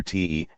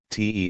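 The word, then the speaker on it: 德: First of all, we'd better explain that the Chinese character te, as in the te of Piglet, is pronounced de, more or less. If you want to be particular, you can put a bit of an r sound at the end, dehr. If you want to be even more particular, you can pronounce it halfway between dehr and duhr.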